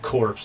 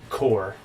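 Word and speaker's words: Korps: So, if you go way back to where I put my Death Core of Krieg together, and it's not Death Corpse, it's Core. The S is silent for all you stinking weirdos out there.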